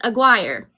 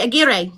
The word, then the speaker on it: Aguirre: With that being said, my last name is pronounced Aguirre here, but it's actually Aguirre, and it's supposed to roll the R's because my great-grandfather immigrated here from Spain.